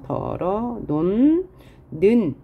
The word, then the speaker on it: 덜어 놓는: 논는 할 때 히읗을 대표음으로 바꾼 다음에 그 다음 리을을 연음해서 털어, 그 다음 디귿 다음에 니은이 있으니까 비음화, 그래서 덜어 논 는 최종적으로 이렇게 발음되는 것이죠.